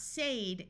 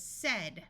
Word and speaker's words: said: when a storm began this is not say it is said with a short e sound said this word is